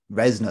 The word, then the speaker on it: Reznor: Reznor, that's how you pronounce his last name.